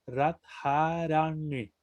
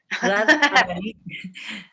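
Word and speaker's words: Rādhārāṇī: Un poquito más largas las vocales, porque como tienen todas el guión arriba, se pronuncian un poquito más largas. Radharani.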